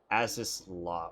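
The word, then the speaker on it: Azys Lla: an Airship to take me to ASIS la as this law okay that's how it's pronounced I'm actually surprised he isn't getting uh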